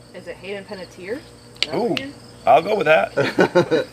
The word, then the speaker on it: Hayden Panettiere: Hickson, pronunciation. Is it Hayden Panettiere?